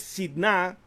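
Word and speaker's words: שטנה: Y esta palabra que en hebreo es sidna, con acento en la A, que significa esto, precisamente oposición por carta, acusación, se relaciona con otra raíz hebrea que es Satán.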